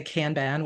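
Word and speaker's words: Kanban: you say it properly kban board is that what you said so I say kban board um but you'll hear some people say can ban which is also fine um it so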